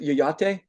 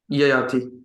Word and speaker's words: Yayati: Do I pronounce it Yayate? Yayati. Yeah. I love you, and thank you for inviting me to your wedding some years ago.